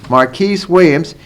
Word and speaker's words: Marquise Williams: Rosen and he's an inexperienced quarterback senior quarterback here now Marcus is at marquice that he pronounced the same marquise Williams 18 touchdown passes eight interception 26 hundred yards